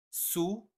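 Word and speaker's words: soûl: Sous sous, c'est prononcé exactement comme sous dans sous la table et on peut l'écrire de deux façons mais la prononciation ne change pas.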